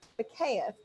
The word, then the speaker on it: Bakeeff: Well, you look at the last name and you never get the proper pronunciation unless somebody told you.